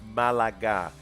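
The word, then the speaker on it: Málaga: he he corrected me he was like it's pronounced malaga it's it's actually a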